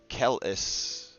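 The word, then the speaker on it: Keleshite: a kellashite all right the kellashite pronounced Kelis uh kel-eshites are born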